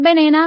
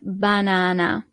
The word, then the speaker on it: banana: So the only thing that changes is the pronunciation. The banana is la banana. So not banana, but banana.